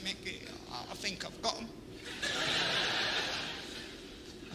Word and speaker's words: Micky: funny oh my god mickey that's his name i said mikey name is mickey oh my lord i'm